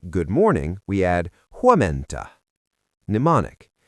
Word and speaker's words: huomenta: Teacher: To say "Good morning," we add Huomenta. Mnemonic: In the morning, you stay at Home-menta.